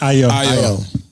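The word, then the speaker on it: Ayo: IO.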